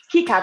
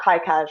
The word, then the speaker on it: KiCad: free card things like key card key cad not kai cash right they're french so